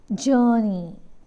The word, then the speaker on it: journey: sound uh next word journey journey here again our silent journey and uh o u